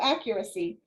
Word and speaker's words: Accurasee: Oh, accuracy, but it's spelled ACCURASEE, accuracy.